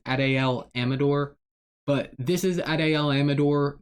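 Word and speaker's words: Adael Amador: His name's kind of hard to pronounce. I believe it's Adel Amador.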